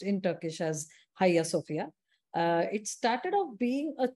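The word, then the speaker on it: Ayasofya: what many people say but uh it is pronounced in turkish as higher sophia it started off being a church actually so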